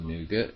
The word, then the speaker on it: Nougat: Android system to nougat I think it's cool nougat I learn how to pronounce it n o ug a te nougat